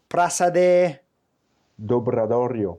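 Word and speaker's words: Praza do Obradoiro: I always have problems pronouncing that one because it's not quite Spanish, it's not quite Portuguese, and it's Gallego, isn't it? So, Praça Dobradorio.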